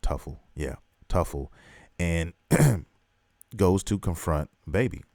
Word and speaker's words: Tuffle: And now he goes to the planet Truffle, and Tuffle, I think that's how you pronounce it, Tuffle. Yeah, Tuffle, and goes to confront Baby.